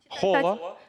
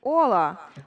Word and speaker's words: Hola: Але коли, наприклад, я пишу слово «привіт», читаю, Hola. Але Аче не читається. Так. І як буде? Хола. Аче не читається. Ола.